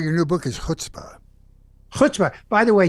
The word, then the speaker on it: chutzpah: By the way, thank you very much for saying that correctly. Yeah, he did. He spat all over the microphone. That was an exaggerated Presbyterian pronunciation of chutzpah. I spoke to a non-Jew the other day. He said, "Chupsis." He had no concept of how. And I said, "No, you got to pull up phlegm from your toes."